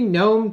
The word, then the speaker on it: GNOME: So what is the GNOME token? It says pronounced like as a garden gnome.